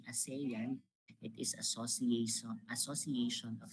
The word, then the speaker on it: ASEAN: So it's way different from uh that so be confused with that ASEAN is spelled as and is pronounced asan not Asian.